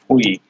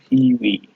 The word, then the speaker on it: Phwee: People would always say it like Phwee, but it's Phwee.